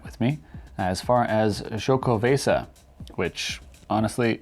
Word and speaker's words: Xocoveza: me as far as choco vasa which honestly it was written how to pronounce it on the can it says say sho i was thrown off with the x who wouldn't be right